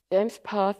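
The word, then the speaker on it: JMESPath: James path is pronounced James path, and a declarative query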